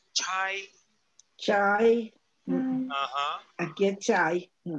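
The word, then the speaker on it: 差: Pero con chu ya cambia su pronunciación, ya no es cha, es chai.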